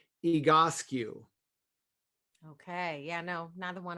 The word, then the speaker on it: Egoscue: It's a gentleman's last name, Pete Egoscue. It's Basque.